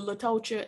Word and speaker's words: Latocha: spelled i'm sorry because who told the girls that t-o-c-h-a is tasha because ch does not make the shell sound it makes the chest out her mama was wrong and she named her